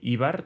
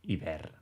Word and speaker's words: iber: De manera que, això, diré "íber", tot i que s'escriu sense accent i en teoria la pronúncia original correcta hauria de ser "iber". Doncs bé, aquí heu estat